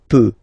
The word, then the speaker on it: peux: as usual, so je peux, okay? Final X not pronounced here, okay? So you get X, but you don't pronounce it, so basically you get the sound peut, peut, je peux.